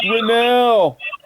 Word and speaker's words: Grinnell: is pronounced and my last name is pronounced grinnell mr if you don't mind can you